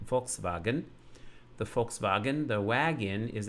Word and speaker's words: Volkswagen: And we see that even the letter V in German is a F sound, as in Volkswagen.